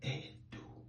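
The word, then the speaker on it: Ẹdo: And that is what changed the pronunciation of this letter E to Edo.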